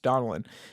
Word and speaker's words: Donnellan: It was Mike, Donnellan, I believe. Is that how you would pronounce his name? Yes, Donnellan.